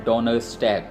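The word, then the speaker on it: Donnerstag: और जर्मन में इसको बोला जाता है डोनरस्टैग। सिमिलर मीनिंग है, सेम मतलब है, लेकिन डिफरेंट प्रोनाउंसिएशन है।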